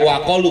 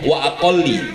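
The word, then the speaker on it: وَأَقَلِّ: Wa aqallu tasbihin wa aqallu tasbihi ruku'in wa sujudin, meninggalkan jangan wa aqallu bacanya, wa aqalli, ya, karena dia mudhof kepada tarku.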